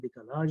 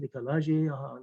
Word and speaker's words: décalage: recently, which is called décalage. It is a French word, décalage, décalage, the way it is pronounced in English, in French.